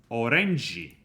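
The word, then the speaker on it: オレンジ: like in this case orange is orangi orang orangi is the Japanese pronunciation of orange and when writing these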